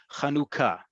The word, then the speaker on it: Chanukah: What's most important is that the second vowel of this word, of this holiday, is u. It is not it is u.